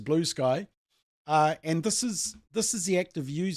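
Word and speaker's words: Bluesky: followers on Twitter and they've gone to blue sky or blue ski. We've we haven't figured out how to say it. We think the Russians may say blue ski uh but everyone else says blue sky.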